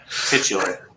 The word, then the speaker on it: titular: the series that's killer titular is how you say it yeah oh thanks for